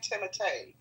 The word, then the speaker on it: Timothée: I think that's how you say his name, Timothée. What'd you think of the HBO?